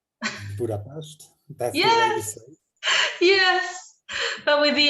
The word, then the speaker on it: Budapest: Budapest. That's yes, the way we say it. Yes, but with the S, the fricative there was special.